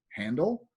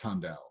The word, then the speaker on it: Handel: It's pronounced Handel. And she's like, do you have a degree in music? I said, no, but I'm a native English speaker, and he was a German who lived in England.